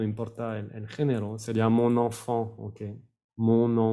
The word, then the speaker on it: enfant: Mi niña, mi niño, no importa el género, sería mon enfant, ¿ok? Mon enfant. Sin la T al final.